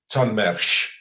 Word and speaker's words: Chalmers: juliana told me that you pronounce it chalmers in in swedish i hope this is